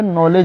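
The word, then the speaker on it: knowledge: यहां पे जैसे के नहीं पढ़ाएगा। सीधे वहां पे नॉलेज इसको पढ़ा जाएगा। ठीक है? यह सिर्फ इसका मान्य है। हिंदी में इसको बोला जाता जो पढ़ा जाता है ये वर्ड यूनिक या मेनी मीनिंग तो यही रहेगा लेकिन इसको बोला जाएगा जैसे नॉलेज यहां पे के नहीं पढ़ा जा रहा है।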